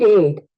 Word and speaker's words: ate: Muy bien, vas a pronunciar eat, ate, ate, eight, ate, eight. En este caso la A toma un sonido abierto, el cual va a sonar eight.